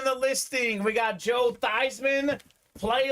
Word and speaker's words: Theismann: was actually pronounced Joe theseman uh they had him change his name pronunciation to Theisman so they can promote Theisman for the Heisman JSA certified Jack Emery